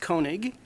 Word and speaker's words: Koenig: with everybody thank you my name's Koenig pronounced Koenig and I represent District 38 which goes from